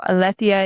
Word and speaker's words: Aletheia: And then this week we are working with Aletheia, Alethia. It is a Greek goddess. So Aletheia is the English pronunciation of that.